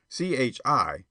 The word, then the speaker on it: Chi: Chi, pronounced shy, by the way, is the argot for Chicago.